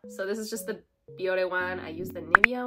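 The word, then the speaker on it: Bioré: So yeah, it's pronounced Biore.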